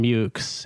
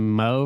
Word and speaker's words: Meaux: not sure i know it's mountain mukes antoine mountain mukes you pronounce the x yeah okay see i'm learning i was saying yeah i was saying mo for a while um yeah kind of